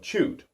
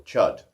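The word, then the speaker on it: Chüd: how to use the ritual of chewed or chud have you wish to pronounce it there is also the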